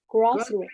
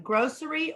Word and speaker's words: grocery: Grocery. Is fine. Grocery or grocery, doesn't matter which. Okay. You can either make Grocery. the SH sound or you can just say grocery.